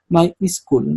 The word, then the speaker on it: MySQL: llamarlos no otros no no se pronuncia my se pronuncia my School no sé pero Depende